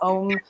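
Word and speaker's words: Ogham: some really cool um kits of the ogum some people call it om um sometimes my pronunciations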